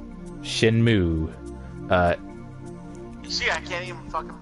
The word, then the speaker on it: Shenmue: Shenmue. See, I can't even fucking pronounce it. Shenmue. Moo. Shen, as in, like, the thing on your leg, moo, as in what a cow does.